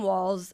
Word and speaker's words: Walz: videos this is Tim Walls I just found out that it's walls and not Waltz so I have been